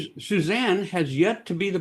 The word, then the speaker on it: Susanne: Even though we pronounce it Suzanne, su an n.